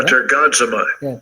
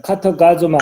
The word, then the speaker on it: katergazomai: 그래서 어쨌든 카타가조마이 발음이 신통치 않네요. katergazomai, 카터가조마이.